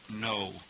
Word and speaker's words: know: knowing something in fact we get the English KN n o w to know something where the K is silent for us in English ginoso is the verb